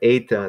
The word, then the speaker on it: eta: But so anyway, but eta, that's how it's pronounced. It's actually one of the vowels, even though it looks like an H or something. It's one of the long vowels.